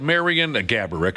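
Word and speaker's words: Marián Gáborík: make an appearance alongside Marian Gaborik, of course, is the real pronunciation, but Josh's uncle liked to make up different pronunciations.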